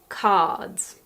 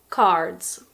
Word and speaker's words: cards: I didn't just say cards by the way in American pronunciation you pronounce the R so it's something like cards but in the UK